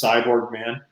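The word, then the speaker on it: Sy Borgman: It's spelled Cy, and then Borgman is his last name, so it's Cyborg Man.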